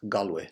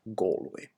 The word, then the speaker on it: Galway: dialects in East County Galway, for example. And notice Galway, not Galway, because it comes from the Irish Gaelic.